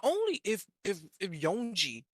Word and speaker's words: Yonji: So not only if if if Yonji, that's how you pronounce it, by the way. Not Yanji is Yonji. If Yonji tried to attack Kaku, could Kaku activate iron body?